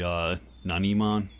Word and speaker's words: Nanimon: Nana Mon actually um technically I guess his name is supposed to be a non Iman as far as the pronunciation goes because his name is based on the Japanese word Nani which some people who